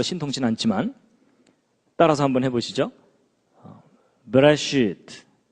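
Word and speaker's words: בְּרֵאשִׁית: 제가 발음이 별로 신통치 않지만 따라서 한번 해보시죠. 베레시트, 뭐 쉽게 그냥 베레시트, 바라, 엘로힘.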